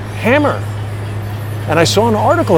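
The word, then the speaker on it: HAMR: are pronounced hammer I still maintain that that's not the same as if it said H a.m.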